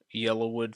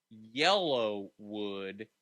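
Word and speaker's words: Yellawood: have a theory okay Yellowwood 500 it's because he drives a yellow car but it's not yellow wood it's yellow wood y-e-l-l-a-w-o-o-d it's just the Talladega pronunciation in yellow fair enough I don't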